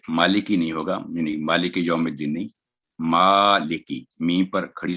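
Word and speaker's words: يوم الدين: تو یہ سیدھا یو نہیں پڑھا جائے گا بلکہ یو نرمی کے ساتھ آواز لمبی کر کے 2 سیکنڈ یوم الدین.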